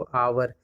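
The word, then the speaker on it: hour: तो इसका प्रोनाउंसिएशन क्या होता है, मैंने बताया भी था एग्जाम्पल में आपको, आवर, और अ से है, और अ से जितने भी वर्ड स्टार्ट होते हैं हिंदी प्रोनाउंसिएशन करके वो क्या होते हैं, हमारे वॉवेल होते हैं, है ना, वॉवेल होते हैं।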